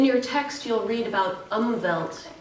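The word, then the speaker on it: Umwelt: text you'll read about umvelt e-m-w-e-l-t umbelt is how it's pronounced it's a German word and that means a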